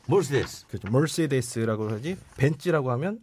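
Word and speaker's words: Mercedes: 이제이 당시는 이걸 몰랐죠 그래가지고 벤츠 했더니 사람들이 못 알아듣더라 그래서 세데스 하니까 이제 알아들었다 뭐 그런 경험이 있습니다아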